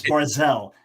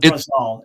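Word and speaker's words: ברזל: Anyone who knows it's Barczel. It's not Barzal.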